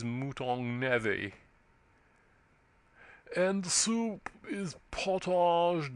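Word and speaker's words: mouton aux navets: "Mouton au navet," added the butler gravely. "Pronounced, if you please, mouton navet."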